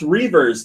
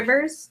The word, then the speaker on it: Reavers: Also, Lost Reavers, the beta is finally It's available pronounced for here. Rivers.